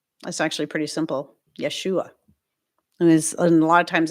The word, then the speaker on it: Yeshua: be pronounced in Hebrew the J would be y the E would be a the S would be sh yesu and the S